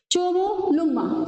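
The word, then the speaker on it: Chomolungma: चोमो लुंग्मा। Sorry pronunciation के लिए।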